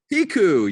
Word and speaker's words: Piecuch: the famous Meds by Attorney is it pronounced piku piku yes it is love it love it love